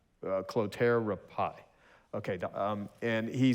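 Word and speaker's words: Clotaire Rapaille: pronounce Rob how what's his how do you pronounce his last name uh clotera pie okay and he says like when someone asks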